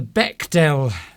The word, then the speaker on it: Bechdel: The Bechdel Is it Bechdel test or Bechdel test? It's the Bechdel test. Not Bechdel test. No, the D is silent.